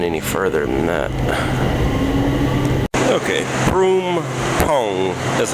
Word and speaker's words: Phrom Phong: Okay, Phrom Phong. That's how you pronounce that.